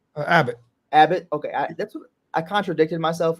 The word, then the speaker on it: Abbott: prospects from Andrew I I believe you say Abit is that that's how you say his name uh Abbott Abbott okay I contradicted myself and I shouldn't